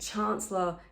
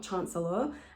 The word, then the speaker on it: chancellor: of want warwick to be almost like one syllable and chancellor is like two not chancellor and calais is um don't try and say